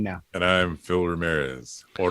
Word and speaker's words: Ramirez: And I'm Phil Ramirez, or Ramirez, if you say it right. Ramirez.